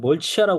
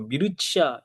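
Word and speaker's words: Mircea: 이게 어 옛날엔 멀치아라 그랬는데 요즘은 이렇게 보내 미르치아 이런 식으로 이게 뭔 발음에 가깝나 봐요.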